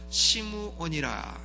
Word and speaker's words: 시므온: 이 사람의 이름이 누구였는가 하면 시므온이라 하는 사람입니다. 시므온 혹은 이 사람을 시므온이라고도 발음하고 혹은 사이먼이라고도 발음을 하고 하는 그 사람이에요.